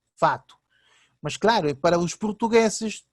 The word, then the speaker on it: fato: A palavra facto, hecho, no Brasil é fato, porque realmente os brasileiros não pronunciam o C, fato.